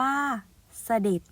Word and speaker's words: เสด็จ: ความ หมาย ที่ หนึ่ง เสด็จ อ่าน ว่า เสด็จ เป็น คำ นาม ซึ่ง